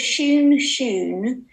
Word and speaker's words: Shoon: They're called Shoon. That's spelled Shoun, and then you double it.